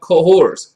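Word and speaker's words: Cahors: there's a whole section in the era called cohors c-a-h-o-r-s excused by french pronunciation i'll do my best you know which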